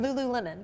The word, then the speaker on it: Lululemon: How do you say that? Lululemon. Is that the way you say it? Yeah.